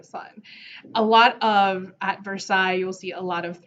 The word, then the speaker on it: Versailles: it's insane now it's not spell it's not pronounced versailles it is pronounced versailles it's the fringe and it's gorgeous and huge